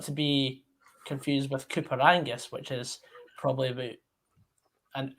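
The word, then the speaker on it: Coupar Angus: not par or something when i say cooper is spelled c-u-p-a-r and that's not to be confused with cooper angus which is probably about an hour north oh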